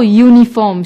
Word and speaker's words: uniform: Although uniform starts with the vowel U, it is not pronounced with the vowel sound.